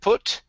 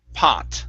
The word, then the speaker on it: pot: for you is pot instead of put it's an ah sound here pot okay great great nice